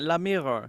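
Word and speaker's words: Lamiroir: Oh, it's literally meant to be like the French phrase "the mirror," I guess. Yeah, la mirror.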